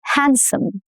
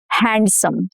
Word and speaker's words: handsome: If you notice, handsome, not handsome, no duh. Handsome.